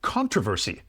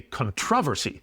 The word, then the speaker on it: controversy: In North America, we would say controversy. In the UK, they say controversy.